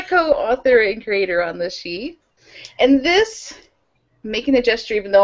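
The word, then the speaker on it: Sidhe: Archer, co-author and creator of the urban fantasy series, The She, which is spelled S-I-D-H-E.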